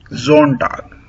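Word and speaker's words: Sonntag: Zonto. Again uh we are pronouncing s as zonto.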